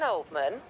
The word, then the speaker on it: Oldman: Anne Oldman. It's pronounced old man.